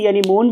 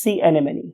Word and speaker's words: sea anemone: Right, बहुत से लोग इसे sea anemone भी कहते हैं. ये this is a wrong pronunciation. True pronunciation is sea anemone.